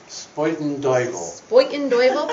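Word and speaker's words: Spuyten Duyvil: Porous Borders, a book of prose poems, was published by, Spoiten Duyvel Press in That's how they say it in 2017.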